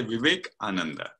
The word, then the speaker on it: Vivekananda: of, not sure how I know how to pronounce it, Vivekananda. Yeah, you can say Vivekananda.